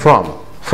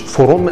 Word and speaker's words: from: from هو لوحده from مش فروم زي خرنج اوكي.